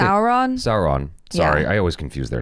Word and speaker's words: Sauron: Sauron.